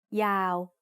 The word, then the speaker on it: ยาว: We write ยาว with ยอยักษ์สระอาวอแหวน ยอยักษ์ is a low class consonant to start the syllable, and วอแหวน at the end makes it a live syllable, so it's also mid-tone. ยาว Your turn to write it.